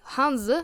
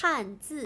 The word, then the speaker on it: Hanzi: the Japanese kanji language and the Chinese Hanzi Hanza language. Hanzi. I'm really bad with my pronunciations.